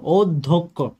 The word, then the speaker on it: অধ্যক্ষ: একইভাবে অধ্যক্ষ শব্দটার মধ্যে বানানের মধ্যে আমরা দেখি অ এর পরে একটা জফলা যেহেতু রয়েছে, এর কারণে কি হবে, ও। তাহলে দ এর সাথে কি হবে, দ ধক্ষ, ও ধক্ষ। এই বানানটার মধ্যে আমরা দেখি ও ধক্ষ।